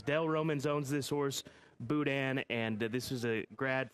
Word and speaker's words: Boudin: number three and uh Boudin right that's how this is pronounced Boudin the Louisiana dish are